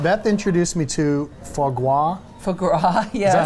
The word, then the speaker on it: foie gras: All right, Beth introduced me to foie gras Foie gras, yes.